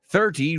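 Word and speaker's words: thirty: American right so in in British English 30 right 30 rhymes with dirty that's a t sound right we say 30 dirty this the perfect example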